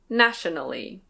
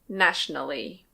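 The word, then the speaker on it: nationally: This one can be pronounced "na-tio-na-lly". Na-tio-na-lly. But it's more common to say "nash-na-lly". Nash-na-lly.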